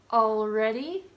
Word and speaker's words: already: The last 4 have an L that comes after an A, and again, in order to sound more formal, I recommend pronouncing it subtly. Always, all right, already, although.